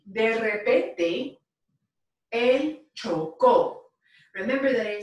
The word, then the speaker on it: chocó: And it's spelled C-H-O-C-O with an accent mark on it. So chocó is the preterite.